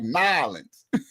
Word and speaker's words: New Orleans: We pronounce everything. New Orleans. I'm like, "Well, that's what it says, right?" And they like, "Nans." That's how they say down there.